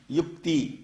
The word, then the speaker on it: யுக்தி: வியாபார யுக்தியாக மாறி இருக்கு இதை உத்தின்னு சொல்லக்கூடாது யுக்தி அப்படின்னு சொல்லணும் நமக்கு என்னன்னு கேட்டீங்கன்னா பெரும்பாலான